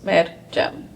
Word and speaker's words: Meryem: That's 2 syllables, Meryem. The Y should sound like a J, but most of the time I'm Meryem or Meryem.